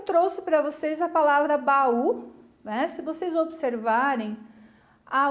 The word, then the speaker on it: baú: para vocês a palavrinha baú. Mais ou menos assim eu vou gritar, né? Baú. Perceberam que eu puxei na sílaba U? É a sílaba mais forte.